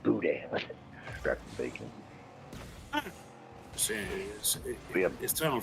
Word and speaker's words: boudin: Boudin.